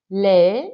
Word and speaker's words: lee: Lee libros. Okay, so it's slightly difficult to pronounce that one, that double E, so it's lee. So you can almost hear the double E there, okay, rather than just saying le.